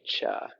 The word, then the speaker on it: Chih: Chi called Tai Chi Cha. That third little word is pronounced cha, like chuck wagon.